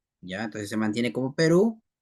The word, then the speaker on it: Perú: Perú, bueno, Perú también está igual. No se dice Pirú, ¿no?